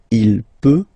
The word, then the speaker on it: peut: So you will put T at the end, you don't pronounce it. Il peut, elle peut.